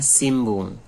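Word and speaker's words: 新聞: Baik, selanjutnya ada simbung. Simbung. Tulisannya sinbung. Simbung, gitu ya.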